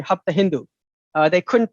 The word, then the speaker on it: Hapta Hindu: uh they couldn't pronounce the Persians can't pronounce S, so they don't say uh Sapta Sindhu, they say Hapta Hindu.